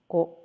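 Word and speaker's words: コ: Katakana ko, pronounce as ko, ko, ko.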